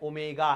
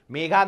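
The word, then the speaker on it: omega: है दोनों कौन है ओमेगा है मेगा नहीं है ओमेगा ओ एमई जी ए स्पेलिंग भी लिखी है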